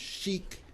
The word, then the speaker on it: Chic: And it's pronounced Chic Romance Travel.